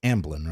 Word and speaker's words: Amblin: isn't isn't it um did I pronounce that right it's ambolyn ambolyn entertainment yeah ambling down the